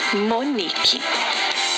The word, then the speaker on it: Monique: Quando você vai à casa de uma amiga que se chama Monique, quando você chega à porta da casa dela, você grita Monique! Então você descobriu que o ni é a sílaba tônica da palavra Monique, mesmo ela não estando acentuada.